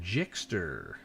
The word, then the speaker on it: Gixxer: know it's crazy but pronounce the g like a j mr jickster ah i see so